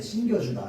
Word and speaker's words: 신기다: D는 어미가 아니기 때문에 된 소리로 발음하지 아니합니다. 여기 나와 있네요. 신발을 신기다. 신발을 신겨주다. 자. 이거 어떻게 바라는데? 신 신 신겨주다 아니야. 신겨주다 아닙니다. 알겠죠? 신겨주다 아니고 신겨주다입니다. 신겨주다.